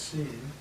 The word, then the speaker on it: sin: Just follow that when I see the word sin in Spanish that's pronounced seen and in the Spanish meaning of that is without.